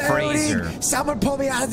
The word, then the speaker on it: Fraser: Trevor said it right. It's Fraser.